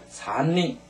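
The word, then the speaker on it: 三人: 따라서 사람 인자가 3명 이후에 올 때는 전부 다 닝하고 발음한다.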